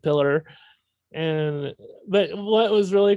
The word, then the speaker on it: Piller: producers and i remember she mispronounced michael piller's name which was so embarrassing pilar or something like that instead of pillar and but what was